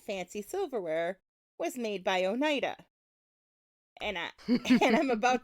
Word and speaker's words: Oneida: we can at least learn how to maybe pronounce their name correctly so Onida and I do think that generally speaking people who live in that area like it's the name I know right right right right pronounced that way um so this is